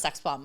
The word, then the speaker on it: XSXBMB: So it's pronounced sex bomb, but I spelled it XSXBMB.